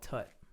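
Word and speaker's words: (T_T)b: They say it's called Tut. Tut.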